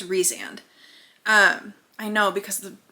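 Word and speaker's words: Rhysand: re reand Rees reand I want to call him Rand but I think it's reand um I know because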